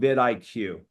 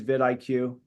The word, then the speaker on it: vidIQ: vidIQ, like video IQ, vidIQ.